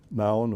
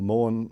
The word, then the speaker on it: Maun: And you probably fly up to Maun or Morn, some people pronounce it, up the top there, which is the edge of the Okavango Delta.